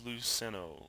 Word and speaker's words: Luceno: Millennium Falcon by James luceno or yeah I think that's how you pronounce it l u CE n o um couple interesting things